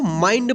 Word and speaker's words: mind: यहाँ पे देखिए MIND, क्या पढ़ेंगे, इसको माइंड पढ़ेंगे क्योंकि ND लास्ट में है आई के बाद, ठीक।